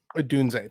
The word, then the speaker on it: Odunze: How is his name pronounced? Is it Rome Odunze or Odunze? Odunze, thank you.